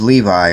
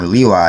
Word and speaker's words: Levi: And a man of the house of Levi, or Lewi as it is pronounced here, went and married a daughter of Levi.